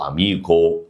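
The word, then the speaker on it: amico: النطق فهقول لك ايه حرف التشي لو جا بعد منه الاي او الا يتنطق شي او تشي لو ج منه اي حرف تاني يتنطق ايه يتنطق كي زي كلمه كارو كايرو اميكو اميكا بالشكل ده ماشي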